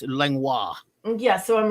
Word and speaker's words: Langlois: It looks like Langlois, like if you spell it like Langlois, but it's Langlois.